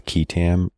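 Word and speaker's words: qui tam: this up The Whistleblower technical name is I pronounce it as ketam and it is spelled Q UI t a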